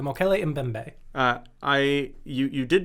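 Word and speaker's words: Mokele-mbembe: phonetics so um sick it's spelled m o k e l e hyphen m b e m b e the mo kelly in bembe uh i you you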